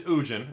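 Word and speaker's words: Ugin: They're slapping in Ujin, and that's how you pronounce it. I don't care what you think otherwise. They put Ujin in the set, and they're throwing in Jace the Mind Sculptor.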